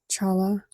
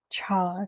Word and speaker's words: challah: A hard a guttural noise. A hard cha. Guttural. Let me pull this up. Challah challah.